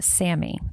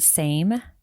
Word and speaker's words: SAMe: So, the first one is pronounced SAM-e, and it's spelled capital S, capital A, capital M, lowercase E. So, it looks like the word same, but it's capital S A M lowercase E, pronounced SAM-e.